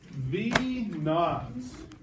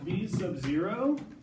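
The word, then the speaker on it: v₀: It's actually not V sub 0. That's for sequences. When you say like sub 3, you know, A sub 2. This has actually got its own little name and is pronounced V naught.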